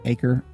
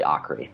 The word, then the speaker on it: Aker: And am I saying your last name right? Aker? No. That is close, but not right. But that's how everybody would assume to pronounce my name, because that's what it looks like. but it's actually Akri.